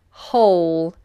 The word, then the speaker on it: whole: next one is whole whole now the first version of the word with a W this W is obviously silent we just start with the aspirate h ull and whole means entire